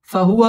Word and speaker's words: فهو: فهو في عيشة راضية ফাহুয়া ওয়াও ঠোঁট গোল করে উচ্চারণ করতে হবে ফাহুয়া ফি জেরের বাম